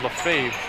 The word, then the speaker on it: Lefebvre: I asked Rick Naylor how to pronounce his teammate's name, and he said Lefebvre.